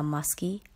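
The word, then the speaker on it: musky: came back spelling muskie do you see how muskie rhymes with husky word number five is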